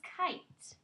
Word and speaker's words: kite: get over the E the E is silent he's tired he's worn out so he doesn't talk anymore so it's I that makes sense the new word is kite very good let's go